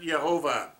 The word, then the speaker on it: Yahweh: yod hey love hey in hebrew yahweh some pronounce it jehovah the earliest pronunciation i have read is yah of a and he says in